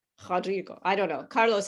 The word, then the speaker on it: Rodrigo: like a ha sound rodrigo now my portuguese is terrible okay so when that letter r is at the beginning of the word you don't pronounce it like an r you pronounce it it